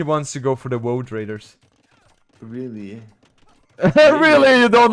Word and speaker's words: Woad Raider: How do you pronounce wood? By the way, Wood Raider. I always say Wood Raider and people laugh at me. Because you're saying Wood Raider, of course they're laughing. It's a Woad Raider.